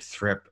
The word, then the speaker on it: Thripp: for congress here and my name is thrip and that is spelled t-h-r-i-p-p you can see over there actually